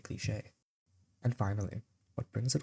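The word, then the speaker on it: cliché: You could say a cliche cliche. And finally, what brings it all together, the presentation. Without the acute accent mark, it is just some weirdly spelled click or clish if youre weird.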